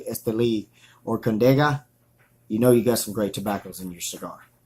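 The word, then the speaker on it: Estelí: So anytime you see the words Jalapa, Esteli, and a lot of people pronounce it wrong, they say Esteli, but it's actually Esteli or Condega, you know you got some great tobaccos in your cigar.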